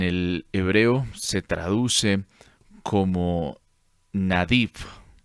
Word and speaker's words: Nadiv: Entonces, cuando miramos esta palabra, que en el hebreo se traduce como Nadiv, N-A-D-I-V, Nadiv.